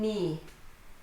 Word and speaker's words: knee: When you have KN at the beginning of a word, the K is silent, as in knee.